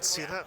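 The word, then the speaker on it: SITA: And uh and you're here with Sitta. Is that the correct pronunciation? Yep. Sitta.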